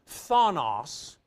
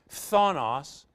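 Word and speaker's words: φθόνος: negatively the last word Thanos that's kind of tough to pronounce p-h-t-h Thanos is totally negative ill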